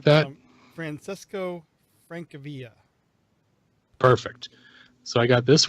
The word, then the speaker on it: Francesco Francavilla: This is the I can't remember how to pronounce this guy's name. Francilio or something like that. Francesco Francavilla.